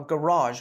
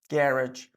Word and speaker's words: garage: Parking is considered a garage or garage. Both pronunciations, again, are fine.